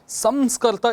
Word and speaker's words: संस्कर्ता: things अगला शब्द है विद्यार्थियों संस्करता यह संस्करता इसका सही उच्चारण है यह संस्कारम करोति वह